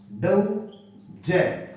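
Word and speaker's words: doze: और ये होता है डौ, जे, क्योंकि ये जिससे बनाया तो डौज, डौज यानी डौज, ऊंघना, डौज।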